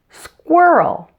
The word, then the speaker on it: squirrel: walk went and wish now let's put the first three sounds of squirrel together squirrel and here are a couple of other common words that begin with the same sound combination Square and squeeze now let's work on the middle part of the word the ER sound to make the earth